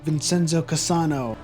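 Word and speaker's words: Vincenzo Cassano: and he was like vincenzo casano vincenzo casano and then he's the only korean as vincenzo said to pronounce his name correctly and i'm like this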